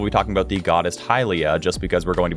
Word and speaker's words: Hylia: and hylia as well I say hylia because that's Hyrule some people say it's Helia and some people pronounce the